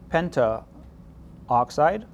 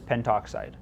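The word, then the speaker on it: pentoxide: five, this would be penta oxide. And if you wrote penta oxide, anyone would understand what you mean, but by convention, we would typically pronounce and probably write this as well just as penttoxide.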